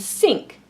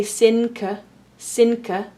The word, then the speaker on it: sink: We see this in the words think and sink. Now here we do pronounce the k separately, but the N we don't pronounce like an N. We don't say sinka, we say sink or think.